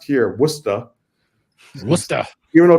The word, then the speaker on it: Worcester: years I've been in Worcester Massachusetts which is pronounced here wora wer even though it's spelled like Worchester like like in England it's it's wora and it's about it's right in the center